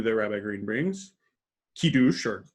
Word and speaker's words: Kiddush: Example number 2 that Rabbi Green brings, Kiddush, or Kiddush, as it's commonly pronounced with an American accent, literally means making